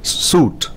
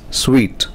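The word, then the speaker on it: suite: plumber it is plumber not suit it is sweet it's not let use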